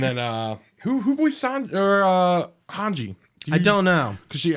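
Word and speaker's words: Hange: thought her name was Hans in like the sub because I might say it differently I'm like no it's hanji like yeah say hanji yeah they might they must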